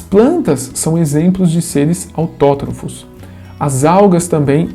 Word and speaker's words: autótrofos: Então é autótrofos, tá bom? Eu falei autotrófos para separar, né? Mas a pronúncia certa é autótrofos, que são seres que produzem o seu próprio alimento.